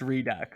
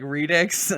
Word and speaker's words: Redux: go with that one clue redux it is pronounced redux okay cool i i found a pronunciation clue hold on hold on read it so that that that's pronouncing it like redix and i don't think that's how it's supposed